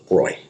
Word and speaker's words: Bräu: The B-R-A umlaut U is pronounced Oi or Broy, if I remember correctly.